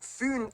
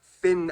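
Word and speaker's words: Fyn: that's too much information it is connected to foon island not finn island by the great belt bridge completed in 1998.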